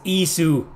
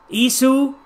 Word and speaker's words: Ys: it I mean is they say in Japan it's ISU ISU because they always add